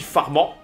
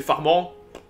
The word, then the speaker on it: Farman: prononce format mais bon si on est en France si je peux le prononcer farmant voilà Le Mans forcément